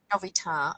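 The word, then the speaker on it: Novita: for her weekday job for navita in finland or navitar as she pronounces it which is obviously the way to say it she also does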